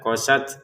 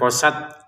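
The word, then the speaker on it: قست: Untuk tnya kita letupin nafas sedikit saja. Ya, qosat seperti itu ya. Jangan sekedar qosat. Qosat mana nafasnya sedikit keluarkan ketika mengucapkan huruf ta ya.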